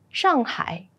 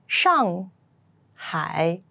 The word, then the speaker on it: Shanghai: the Summer Palace the Great Wall Etc and Shanghai shangai Shanghai Shanghai has a population of 26 million